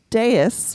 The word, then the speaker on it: dais: So a dais, which is how it's pronounced, is a platform or raised floor at one end of a room or hall.